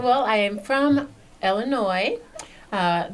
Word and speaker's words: Illinois: well I am from Illinois uh the S is silent for all of those who might be thinking otherwise and I grew up